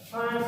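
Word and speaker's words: Pfund: Then next, fifth series is the Fund series. P is silent here, Fund series.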